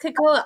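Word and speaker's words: cacao: does Collins K yeah it's it's cocoa CA kakoa so it's it's pronounced kakoa I was pronounced a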